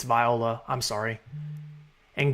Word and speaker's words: Viola: I've been saying Viola. It's Viola.